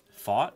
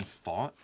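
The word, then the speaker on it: Pfaadt: about minty fresh fat he doesn't pronounce it fat yeah how does he pronounce it how does Brandon fat pronounce his fat name fought really no minty are you just messing with me to get me to pronounce the guy's name wrong really you swear minty that you're not just messing with me it's Brandon fought oh Grand salami confirms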